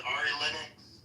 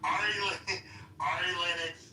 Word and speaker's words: Ari Lennox: So, uh I had to say her name wrong. I really like her singing is that Ari Linux has been um really pushing this.